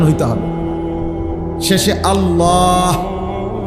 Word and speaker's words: আল্লাহ: শেষে আল্লাহ, শেষে একটা গোল হা আছে, ছোট হা।